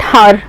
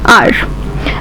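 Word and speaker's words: hour: How many of you actually pronounce it har or haver? Okay, so that pronunciation that if you are calling it haver or har, it's wrong. We have to pronounce it R.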